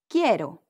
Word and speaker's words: quiero: When you have Q, U plus I, the Q, U sound like a K. Qui, quiero. And this R is a bit difficult. almost sounds more like a D than an R. Say it like a D, but place your tongue further back on your palate.